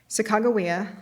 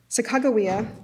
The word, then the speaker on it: Sacagawea: Sacagawea, and here I'm using the kind of Mandan pronunciation that I was taught at Lewis and Clark College. Sacagawea by Alice Cooper reflected